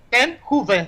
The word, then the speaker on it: Ten Hoeve: Ten-Huve se pronuncia. Ah, mira que... Me suena alemán. ¿O me suena holandés? No. Holandés. Holandés. Holandés, me ganaste. Muy bien, sí, eso es bien holandés.